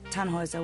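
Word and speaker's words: Tannhäuser: what's your name tenhauser we'd pronounce it tan hoiser with an unload german roots yes my grandpa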